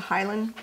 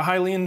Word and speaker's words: Hylian: Someone in the chat says you need what is it, the Highland? Is it how you pronounce it? A Hylian shield.